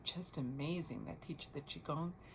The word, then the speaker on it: Qigong: amazing that teach the Qigong. That's QI and then a separate word, Gong. QI, Gong. You can pronounce it Qigong, Qigong. So it's like Tai Chi but simpler.